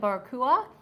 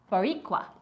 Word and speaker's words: Boricua: um he said the I was calling it barakua and he um Diaz was telling me now let me go back to where that was the pronunciation which I cannot tell you how much yes I appreciate it it's boricua oh there is some cheese